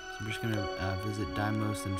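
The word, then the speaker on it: Deimos: only two actually i'm just gonna uh visit daimos and phobos that's how you pronounce it and uh mars but um then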